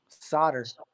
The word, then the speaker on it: solder: We pronounce it like S-A-W-D-E-R.